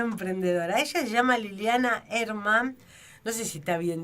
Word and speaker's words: Hermann: Ella se llama Liliana Hermann. No sé si está bien dicho, si se pronuncia así porque es apellido alemán. Buen día, ¿qué tal? Sí, Liliana Hermann.